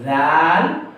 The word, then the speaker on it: ذ: এই ৩টা অক্ষর উচ্চারিত হবে জিহ্বার আগা এবং দাঁতের আগা থেকে। সা, জাল এবং জ। সা, জাল অতি পাতলা অক্ষর, আর জটা হলো মোটা ধ্বনি বা ইস্তেআলা।